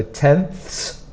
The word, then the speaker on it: tenths: 100 THS 1000 THS the problem is in pronunciation because is quite a difficult sound to make you have to put your tongue between your teeth and then add an S so it's so tenths